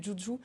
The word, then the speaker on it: juju: de la BD le silence du joujou parce que et non pas juju comme j'ai prononcé ouais c'est ça mais c'est euh ça vient du du mot ça viendrait du mot joujou en français joujou euh en fait